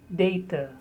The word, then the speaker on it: data: The next word is data. The most commonly used British pronunciation is data. In American, it may be data or data. In British, normally it is data.